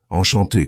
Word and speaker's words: enchanté: Le deuxième, un classique, c'est le son nasal dans le mot « enchanté ». C'est un son qui vient du nez.